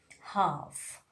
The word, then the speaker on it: half: Letter L is the silent when it comes just after the vowel A, O, and U, like calf, half, palm, would, should, could. We are not pronouncing letter L.